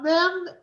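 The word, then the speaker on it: מי: And a mem and a yud is who? Is me, right?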